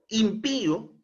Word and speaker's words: impío: diferentes por ejemplo impío esta palabra lleva tilde en la i porque es una palabra aguda Pío impío eh lleva la mayor entonación de voz en la última sílaba Pío pero como le colocamos una